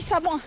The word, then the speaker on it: Samoëns: Samoins d'ailleurs, qu'apparemment on dit Samoins, excusez-moi. On ne prononce pas le S.